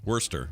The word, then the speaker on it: Worcester: worcester would i say warchester worcester yeah worchester it's weird because they they pronounce those first five letters as worse yeah and then the last four letters as stir so worcester worster that makes sense or